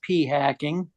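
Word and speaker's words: p-hacking: The hyphenated term was pea hacking. Hey. Or should that be thacking? Rhymes with fracking, in case you wonder what the term was.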